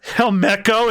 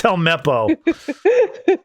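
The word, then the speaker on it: Helmeppo: Kobe and hco uh hel Meco it's helppo give me a break John I'm drunk and my cat's biting my toes toy not the toes no budes like get your get the character's name wrong will you that deserves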